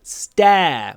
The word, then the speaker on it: stare: Stare. Мы часто говорим, it's rude to stare. Здесь первый интересный момент. После ц произносится без придыхания. Stare.